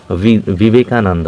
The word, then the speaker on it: বিবেকানন্দ: কিন্তু আমরা বিবেকানন্দ বাংলায় উচ্চারণ হলেও কিন্তু বিশেষ বিশেষ যারা খ্যাতনামা ব্যক্তি বিশেষ বিশেষ ব্যক্তিবর্গ প্রোনাউন সরি প্রপার নাউন তাদের ক্ষেত্রে কিন্তু ভি দিয়ে শুরু হবে বিবেকানন্দ ঠিক আছে যেরকম বিদ্যালয়